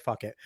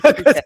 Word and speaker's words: Phuket: Is that how you pronounce it, Phuket? Because I've always called it like fuck it. Like, is it Phuket? It's Phuket, yeah. I am an uncultured swine,